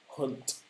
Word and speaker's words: Hunt: Got to pronounce that correctly because we're from Yorkshire and sometimes we don't pronounce our H's very well. Jeremy Hunt.